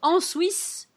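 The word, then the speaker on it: Ansouis: never been there so I didn't know that you say the S at the end that's always a problem with French you can never be sure so on Swiss on Swiss on Swiss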